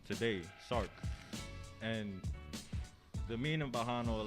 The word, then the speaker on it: Sark: I said Stark. Can you say spell it how you? You just make me sound smart when you say that. It's Yeah. S-A-R-K. S-A-R-K. Yeah. True indeed. My bad for saying it wrong.